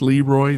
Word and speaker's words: Leroy: Leroy pronounced Leroy literally means the king.